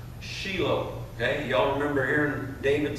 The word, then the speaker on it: Shiloh: means tranquil okay in the Hebrew it is pronounced Sheila that y'all remember hearing David say Sheila right